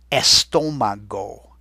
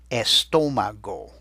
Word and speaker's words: estómago: In Spanish, the word is el estómago. El estómago. I'm going to let you spell it, and then we'll listen for where to put that accent. El estómago.